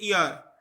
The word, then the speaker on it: heir: एक word use हुआ है HEIR, इसकी प्रोनाउंसिएशन होती है ईयर, हाँ, ईयर, तो H साइलेंट होता है इसमें, ईयर ऑफ ट्विस्ट बोन।